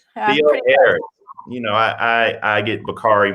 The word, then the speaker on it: Theoharis: Now you're gonna have to make sure that did I pronounce that right, Reverend Dr. Theoharis. Theoharis.